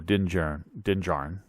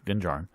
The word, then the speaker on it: Din Djarin: One of them is, I believe Armando Din Djarin, again, pronouncing things wrong, Din Djarin.